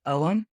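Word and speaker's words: Ogham: it actually uses an ancient druidic alphabet called om it's spelled OG g h m and each om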